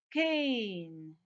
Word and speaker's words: cane: So the silent E here tells the preceding vowel to say its name. The name of this vowel is A. So what does it become? Cane.